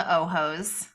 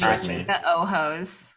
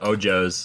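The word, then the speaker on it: ojos: what they call the ohos so um the Alex Spanish for eyes for those speak Spanish ohos so yeah that's good pronunciation Sarah thank you instead of ojo's like Paul would say quad true story all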